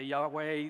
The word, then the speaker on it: Yahweh: text you see there yahoo is the pronunciation of the Tetragrammaton that i've chose that i don't get into fights with people about this some say Yahweh the King James says Jehovah Jehovah look we're talking about four consonants and we're doing the best we can the pronunciation I've landed on is you who us so if you hear